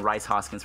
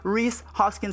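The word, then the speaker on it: Rhys Hoskins: Maurice Hoskins I said it right I've been saying Rice Hoskins for the longest time but let's go ahead and check out mr. Reese Hoskins stats absolutely was on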